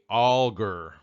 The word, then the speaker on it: Alger: little note about pronunciation per the family it's pronounced fanny all ger alright the Nauvoo expositor